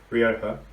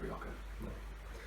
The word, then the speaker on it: Rioja: So I'm on Campo Viejo this week, the Spanish Rioja. And I thought it was Rioja. no, the J is H. I thought it was Rioja.